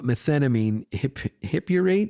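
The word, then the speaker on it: methenamine hippurate: I also take a new drug called uh methnamine hiphurrate. Is that how you pronounce it?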